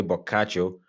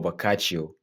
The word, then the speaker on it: Boccaccio: You can say Boccaccio or Boccaccio, or if you prefer the English pronunciation, you can call him Boccaccio.